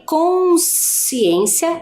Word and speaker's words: consciência: Já em consciência, eu apenas, né, ouço ali o valor sonoro, o som do S.